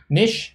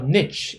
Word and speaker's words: niche: no i wasn't so both niche or niche are the correct form of pronunciations okay so aside uh